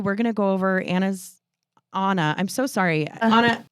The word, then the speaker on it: Ana: differently but I apologize you deserve the respect of your name pronounced correctly it is Anna but we're going to